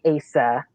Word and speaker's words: Aissa: Aissa. Am I saying that correctly? You are saying it correctly, but we mostly say Asa. My husband's Asa. family says Asa, yes.